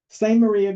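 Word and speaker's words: Samaria: certainly not pronounced that way so that is pronounced um same Maria Gorge uh and it's it was a nice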